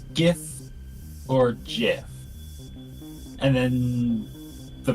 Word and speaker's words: GIF: know like oh it's Jiff it's like no G there and there is no discernible reason within the English language that it should be pronounced like a j that is a g